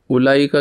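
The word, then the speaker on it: أولئك: यह बताना है कि उलाईका की अगर आप स्पेलिंग देखेंगे तो अलिफ के बाद उ है तो यह होना तो इस तरीके से चाहिए था उलाईका। लेकिन इसके अंदर वाऊ है तो लेकिन वाऊ प्रोनाउंस नहीं होता। तो इसलिए अलिफ पेश के बाद उला लाम फ़ौरन पढ़ा जाएगा उलाई का।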